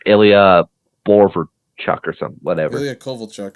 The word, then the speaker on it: Ilya Kovalchuk: Ilya Kovalchuk. Is that how you say it? Ilya Kovalchuk? Yes.